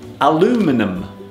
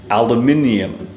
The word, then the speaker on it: aluminium: made from aluminium aluminium in American English they pronounce this word aluminum aluminum but in British English we say aluminium and there it is